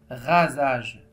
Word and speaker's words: rasage: a deux voy voyelles la lettre S se trouve entre deux voyelles y entre deux voyelles très bien ça se prononce ze rasage je coche le mot